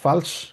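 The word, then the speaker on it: falsch: মানে বলা হচ্ছে ফালস কারণ এফ আ যেহেতু থাকে ওই জন্য আ এর মত উচ্চারণ হয় ফালস এস সিএইচ এটাকে তালিবসের মত উচ্চারণ করা হবে ঠিক আছে কি বলবো ফালস ঋষিস মানে হচ্ছে রাইট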